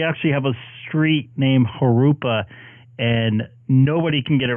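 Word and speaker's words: Jurupa: Yeah, we have a bunch of cities in my area that the pronunciation's weird, and we actually have a street named Harupa and nobody can get it right. It's always Jarupa, whatever they call it.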